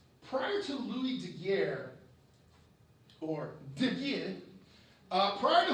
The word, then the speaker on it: Daguerre: In 1839, Louis de Geer, which is the official pronunciation, that's how you're supposed to say it.